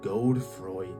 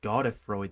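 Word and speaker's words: Godfrey: The worst, and it's not even particularly close, the worst offender of asset reusing is God the grafted. Quick editor's note here. Apparently, it's pronounced God of Freud the grafted.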